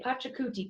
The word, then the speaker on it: Pachacuti: akuti his name is fun to say a Pachacuti Pachacuti i actually know how to say this